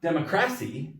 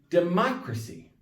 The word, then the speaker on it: democracy: here it's democratic but it's not democracy it's democracy see this is where it can get confusing because it's the same word with just a couple different letters that are different why is the pronunciation different because when you have ic as an adjective you're going to have the second to last syllable whereas if it's the the noun the y it's democracy the third to last